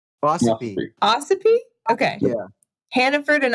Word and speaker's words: Ossipee: I don't know how to pronounce this town. Ossipee? Ossipee.